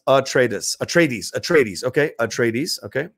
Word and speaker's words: Atreides: Hey, Roka, Atreides is pronounced Atreides.